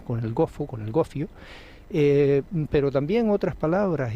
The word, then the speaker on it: gofio: palabras Como por ejemplo la palabra gofio que í se pronuncia gofo que tiene todavía Incluso